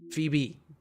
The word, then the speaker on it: Phoebe: I know some people like don't really pronounce the E on the end.